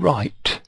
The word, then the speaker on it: right: i t e in right the G and H are silent all right all right